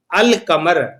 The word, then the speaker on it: القمر: حروف قمری کہتے ہیں، کیونکہ القمر پر جب الف لام لگائیں گے تو لام کی آواز ظاہر کی جائے گی۔ یہ اصول صرف